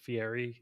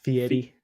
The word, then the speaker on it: Fieri: But I guess you're not supposed to say his name like Fieri. It's like Fieri. Fioli or something like that.